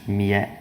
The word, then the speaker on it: mealheiro: LH is pronounced /ʎ/, /mjɐˈʎɐj.ɾu/. The body of the tongue presses up against the palate and to the sides: mealheiro!